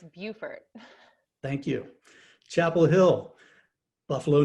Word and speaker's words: Beaufort: right in north carolina depends on the state oh okay yeah in south carolina it's beaufort thank you chapel hill